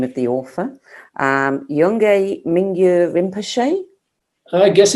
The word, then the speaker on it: Yongey Mingyur Rinpoche: Now, there's different ways of pronouncing the name of the author. Yongey Mingyur Rinpoche?